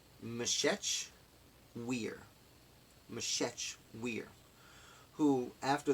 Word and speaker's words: Meshech: can't pronounce this name it's Emmie sh e CH I believe it's Meshech we're Meshech we're who